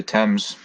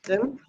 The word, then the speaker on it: Thames: Only one that I'm aware of, the Thames. The Thames.